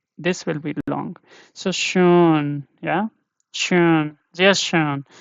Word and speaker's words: schön: Yeah, this one is very long, this vowel. And this sound of this O umlaut is long because here you don't have repeated consonant like tete or consonant following after this.